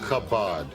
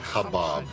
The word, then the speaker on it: Chabad: Chabad, not Habab. Habab? It's not a rodeo.